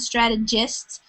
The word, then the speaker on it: strategists: That's the soft G sound, strategists.